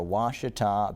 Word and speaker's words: Ouachita: big-time upset win for Ouachita Baptist. They talked about this game on College Game Day. I think it was Reese Davis, really mispronounced Ouachita, like a Wichita or something.